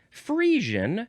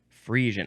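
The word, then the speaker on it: Friesian: Next is fian. Fian. Capital f r i e s i a n. Fian. I would want to say fian, but that's wrong.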